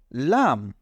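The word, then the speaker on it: لام: এটাকে আমরা বলব কাফ এরপরে এটাকে আমরা বলব লাম তাহলে প্রথমটা হলো কাফ এরপরেরটা হলো লাম কাফ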